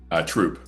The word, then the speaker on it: Troupe: How do you pronounce it? Troup? Troop.